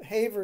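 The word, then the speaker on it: Havre: it's problem it's the hav branch of of Haver is spelled ha A V re by the way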